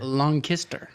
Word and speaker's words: Lancaster: lancaster pennsylvania okay wait it's lancaster long kister if you're from that area it's debatable tell us